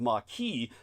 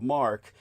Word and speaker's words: marque: The British government or different it spelled like it would be called letters of marquee but it's pronounced letters of mark.